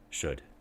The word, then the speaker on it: should: So we can hear this in took, or good, put, bush, wolf, woman, would, should. Notice that the would, should, we don't really say the the L sound.